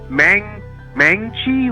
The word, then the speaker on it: Maangchi: It's Mangchi, like MAANGCHI, but she has like a YouTube channel, and she teaches you how to cook everything.